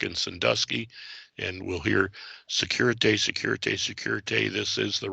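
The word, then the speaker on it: sécurité: procedure as urgent use the safety signal pronounced security and they'll say security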